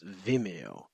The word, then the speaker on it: Vimeo: Like instead of video, it's Vimeo.